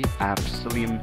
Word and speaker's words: psyllium: I assume it's a silent P, psyllium husks, however it's said.